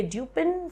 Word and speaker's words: Dupin: with my friend C Auguste Dupo the the pronunciation is duper although spelling is dupin it's absolutely okay if you say dupin so long as you get the spelling correct